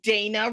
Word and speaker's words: Dana: I would say Dana rhymes with trainer or some version of that.